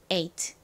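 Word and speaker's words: eight: 발음은 에, eat, ate 입니다. ate.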